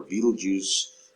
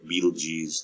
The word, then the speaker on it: Betelgeuse: Notice in the upper left-hand side, that's the star Betelgeuse, or Betelgeuse, depending on how you want to pronounce it.